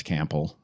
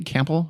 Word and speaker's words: Campbell: It helps us understand why the Charles Bravo and Florence Campbell, later Florence Bravo, were married in the first